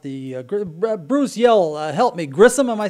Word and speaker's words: Grissom: were done with the Bruce yellow helped me Grissom am I saying it right yeah Grissom Air Base and the museum if they've got